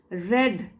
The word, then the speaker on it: read: और रेड, ये past tense में चल रहा है तो इसको कैसे पढ़ेंगे, रेड। रीड और रेड स्पेलिंग तो एक ही होती है, लेकिन हमको पता